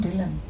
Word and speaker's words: Dhillon: भी बोलते हैं, आप खुद के लिए बोलते हैं तो आप ढिल्लन ही बोलते हैं. रियली? आपने नोटिस किया? मैंने खुद भी नोटिस नहीं किया. Because as you write you read, na, so you pronounce it like that. And Poonam Dhillon, yes, you're right, I say it like that.